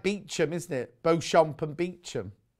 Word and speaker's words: Beauchamp: you mean the veil of eva oh why spell it bellevoir then if it's beaver that's like beachum isn't it beauchamp and beachum 5.99 oh they're